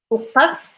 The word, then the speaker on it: وقف: So to say like stop here, stop here, stop here is like وقف وقف هنا وقف هنا. To say stop here is وقف هنا وقف وقف. As number 9 is the ق sound.